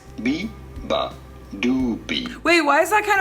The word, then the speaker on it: Beabadoobee: BEABADOOBEE. You do want to stress on the third syllable. BEABADOOBEE. The do syllable. BEABADOOBEE.